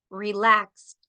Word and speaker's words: relaxed: Suena como T. Looked. No suena ed. No suena ed aquí. Looked, relaxed, stopped.